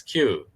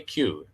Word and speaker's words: queue: We spell it like this. Q. Q. You just say Q.